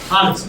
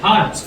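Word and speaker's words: hertz: Cycle per সেকেন্ডকে বলা হয় হারজ। হ্যাঁ। এইচ ই আর টি জি। হারজ। বল দেখি কি উচ্চারণ আর হ্যা আরেকটা শটে লেখা হয় চিহ্ন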